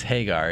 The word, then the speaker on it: Hagar: glancing moment i am haggar healed haggar who had spoken once before in a desert exile thereafter haggar hagar it's it's hagar isn't it i've been mispronouncing this whole time it's hagar therefore hagar used another